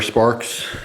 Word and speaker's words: Spark XX: Spark XX, or Sparks, as it's pronounced.